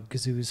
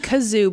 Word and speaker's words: Gazoo: First of all, it is gazoo. All my life, called him the Great Kazoo. I've been saying kazoo, but I remember seeing it spelled, and it was spelled with a G. Yeah. But I think I thought it was just pronounced kazoo.